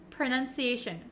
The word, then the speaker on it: pronunciation: like what they are so even though we have an o p r o it's actually kind of pronounced like a u like an uh uh sound PR PR and it's very short pronunciation pronunciation okay you